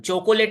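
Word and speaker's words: chocolate: है ना यह वाला यह पढ़ा नहीं जाता है हम चॉकलेट नहीं बोलते हैं कि हम चॉकलेट कहेंगे हम लोग इस ओ को नहीं पढ़ते इस ओ को तो यह बन जाता है चक ले चक ले कितने हो गए टोटल दो हो गए चॉकलेट दो सिलेबल्स हो गए दो वेवल साउंड्स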